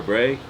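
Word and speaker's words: braai: barbecue or or grilling Bri I think BR or Bray b r a i i I think is how you say it so it it depends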